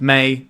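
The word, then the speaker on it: Mai: First, we have May Scornful Striker and is pronounced May.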